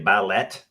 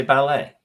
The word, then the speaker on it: ballet: Would you say ballet? No, you would not. You say ballet. Okay. Why? Why is the T silent?